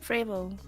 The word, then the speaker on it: frevo: So the O is pronounced like a U. So it's frevo.